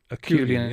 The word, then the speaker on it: Acheulean: It's of a type known as an Acheulean. How would you pronounce that? Acheulean, yes.